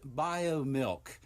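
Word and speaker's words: Biomilq: all food companies include biomilk and it is spelled b-i-o-m-i-l-q and when i referenced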